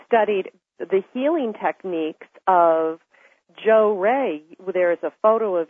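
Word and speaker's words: Johrei: that's correct and that particular type of healing Joe ray you pronounced that correctly means up listening of the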